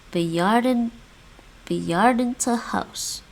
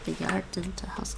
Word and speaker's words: bejaardentehuis: al beginnen in het bejaardentehuis. In het bejaardentehuis. I want to make sure I'm saying that right. Bejaardentehuis. That's actually what they put. Bejaardentehuis. Bejaardentehuis. Bejaardentehuis. They're barely pronouncing that end.